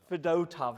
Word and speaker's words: Fedotov: reason for that is Ivan fedotov how fedotov that's how you pronounce it who was drafted by